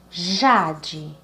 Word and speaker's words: jade: Jade, jade. Então, quando nós separamos e pronunciamos a sílaba já, ela é a mais forte, não é assim?